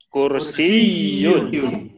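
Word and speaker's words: كُرْسِيٌّ: Nah, gimana cara bacanya kalau ada tasdid? Kursiyun. Ya, betul. Kursiyun. Penekanannya di tasdid, Pak ya. Kalau ada tasdid di setiap kata, maka kita menekankan di yang ada tasdidnya.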